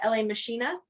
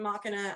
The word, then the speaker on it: La Machina: So we were pronouncing it LA Machina, Yeah. but everybody calls it Machina, and I literally could care less what anybody fucking calls that band.